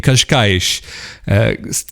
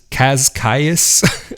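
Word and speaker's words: Cascais: an hour away in kashkaish c-a-s-c-a-i kaz kais i guess would be the way you'd pronounce it in english but it's this cute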